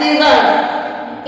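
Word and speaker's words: scissors: ओ आर एस सीजर्स इन सब में एस के बाद में सी आया हुआ है तो यहां पे सी का साउंड साइलेंट होगा और एस का साउंड हम इसको एस को सा पढ़ेंगे जैसे स साइंस एंड सीजर्स ये जानना बहुत जरूरी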